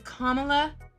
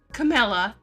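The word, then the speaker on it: Kamala: are doing it on purpose her name is kamla Harris not klaa and I cannot stand how people mispronounce her name it is Vice President kamla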